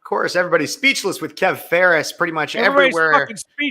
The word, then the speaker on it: Phares: yes speechless with Kev Ferris last name p-h-a-r-e-s spell or pronounced like Ferris Bueller spelled a ton differently speechless with Kev Ferris